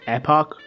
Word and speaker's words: Epoch: it being epic and the spelling is just kind of fun of a weird way to say epic so i'm gonna call it epic anyways as i'm sure